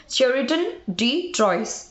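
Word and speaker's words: Chrétien de Troyes: Father of English বা father of written novel, মানে লিখিত নভেলের জনক বলা হয় শেরিটন ডি ট্রয়েস। আর বানানটা হচ্ছে CHRETIEN, শেরিটন ডি ট্রয়েস, TROYES।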